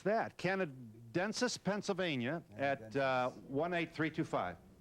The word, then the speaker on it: Canadensis: It is, how do you pronounce that? Canadensis, Pennsylvania, at 18325. Canadensis.